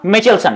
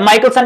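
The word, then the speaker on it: Mikkelsen: Carolina, ठीक है बेटा, कैरोलीना मिचेलसन या माइकलसन भी इसको कुछ पढ़ते हैं, तो प्रोनाउंसिएशन आप कर सकते हो, कैरोलीन मिचेलसन या माइकलसन भी आप पढ़ सकते हो।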